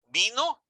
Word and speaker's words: vino: So the pronunciation, it is most of the people say that there is no difference. Yes, it is. There is a difference.